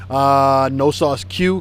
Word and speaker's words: No Sauce Que: No Sauce Q, Q-U-E is how it's spelt.